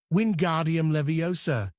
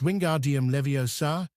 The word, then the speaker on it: Wingardium Leviosa: "Wardium leviosa!" he shouted, waving his long arms like a windmill. "You're saying it wrong!" Harry heard Hermione snap. "It's wingardium leviosa. Make the gar nice and long here.